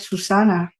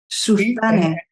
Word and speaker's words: Suzanne: Something like that, Susana will be actually wait, but my name is not spelled like Susana. That's how everybody calls me, because in Spain, but it's actually Susane. N-E, right? Sutanne.